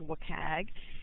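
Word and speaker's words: WCAG: web content accessibility guidelines if this acronym is pronounced work AG and the Board of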